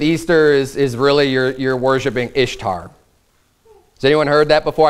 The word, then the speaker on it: Ishtar: pronunciation of Ishtar, and it's the reason I'm saying Ishtar is because it's spelled I-S-H-T-A-R. So in our common way that we would pronounce English words, it would say Ishtar. But they say, well, the real Semitic pronunciation of that is Easter.